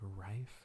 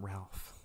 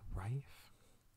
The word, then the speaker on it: Ralph: I think his first name is pronounced like Rife, isn't it? I keep forgetting that. It's not Ralph. It's like Rife.